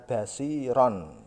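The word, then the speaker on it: بصيرا: Tanwin atau fathah ten tadi, ini diganti dengan fathah saja. Tanwinnya hi, lang. Contoh sami'an basiron menjadi sami'an basiro.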